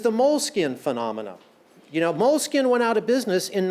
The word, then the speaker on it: Moleskine: to draw in their moleskins? I think this is really interesting. And also because it's Italian, if you want to pronounce it right, it's moleskine, not moleskin. Moleskine.